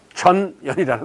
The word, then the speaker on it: 전연: 그래서 이 나라를 이거 발음을 잘해야 돼. 전연이라는 나라야. 잘못하면 욕하는 줄 알아.